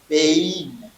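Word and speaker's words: בין: Je n'ai pas dit ben, pas je dis bein.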